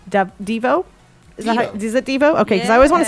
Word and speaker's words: Devo: Devo. Is it Devo? Okay, because I always want to say Devo, but I guess it's Devo. Okay, so I said it right.